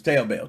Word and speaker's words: Taobao: I don't know how you pronounce that. Is it Taobao? Taobao? I don't know. It's Taobao.